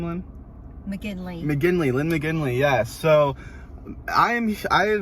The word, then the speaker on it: McGinley: McGinley.